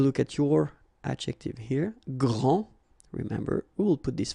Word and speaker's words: grand: elles sont les plus grandes. Okay, so phonetically what you can hear is that this first form here for the masculine, grand, so you don't pronounce the final D, will be exactly the